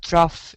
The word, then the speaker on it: trough: there is also in the 500 hectopascal um pronounced uh truff in in pressure trough and um the system